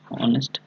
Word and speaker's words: honest: HONEST যে আছে, ওকে, ভালো করে শুনে নাও, অনেস্ট। ওকে, এখানে কিন্তু তোমার এইচটার উচ্চারণ হয় না কিন্তু, ওকে, অনেস্ট হয় খালি, অনেস্ট, অনেস্ট, বুঝা গেল?